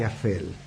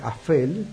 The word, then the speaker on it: Aphel: ¿Qué es Bel y Afel? Les escribo, Bel se escribe con B corta y Afel con PH, se pronuncia como F, y son palabras de un idioma muy antiguo que simbolizan esos dos caminos.